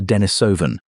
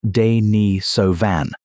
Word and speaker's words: Denisovan: Her father was a Denisovan, pronounced "day-nee-so-van", a separate human population known almost entirely from DNA.